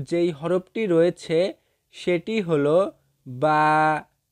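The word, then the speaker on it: ب: এরপরে আরবি যেই হরফটি রয়েছে সেটি হলো বা। বা। এই বা হরফটি দুই ঠোঁটের ভিজা জায়গা হইতে উচ্চারিত হইবে। বা হরফটি দুই ঠোঁটের ভিজা জায়গা হইতে উচ্চারিত হইবে। বা।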